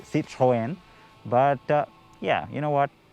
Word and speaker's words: Citroën: citroen is right now if you're french you'd say see troyen but yeah you know